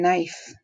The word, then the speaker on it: knife: looks the same knife there's that silent k in knife drive hike prize and